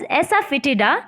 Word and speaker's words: asafoetida: You can pronounce it as asafoetida, or we can call it as hing in Hindi.